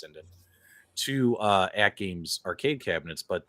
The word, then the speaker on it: Sinden: I've seen several owners of AtGames products connect Gun 4 IR, AE light guns, as well as Sidens, however you want to pronounce it, but I think it's Sinden, to AtGames arcade cabinets, but they all had to plug in a PC, right?